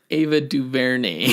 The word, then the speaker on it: Ava DuVernay: Ava Duvernay yeah Ava Duvernay Ava Duvernay it's pronounced Ava Duvernay why Ava Ava Duvernay Ava Duvernay all right